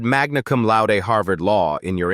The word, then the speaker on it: magna: You said Magnaum la Harvard Law in your introduction. But you pronounced Magna wrong. It's magna, not magna. Latin stress patterns fall on the penultimate syllable when it contains a long vowel.